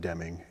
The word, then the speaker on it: Deming: know that's exactly how you say it but Deming of course is uh one of the Geniuses